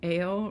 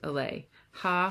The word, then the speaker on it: Ale: waving in my face ale rhymes with sale this is how people who don't know her usually say her nickname but it's actually pronounced lay ha ha she says just